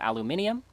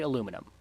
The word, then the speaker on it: aluminum: not just Britain, European, like, we drop one of the I's when we pronounce it, but no, in America's spelling, aluminum is missing an I. So it should be aluminium, but we say aluminum.